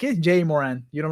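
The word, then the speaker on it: Ja Morant: uh it's for name it's pronounced ja moran all right thank you man because i like it jay moran you don't like it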